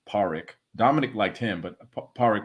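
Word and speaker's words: Pádraic: and Dominic liked powering I think that they pronounced as Parikh Dominic liked him but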